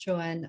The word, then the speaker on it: Joan: is joanne um it's spell drone but pronounced joanne um i was born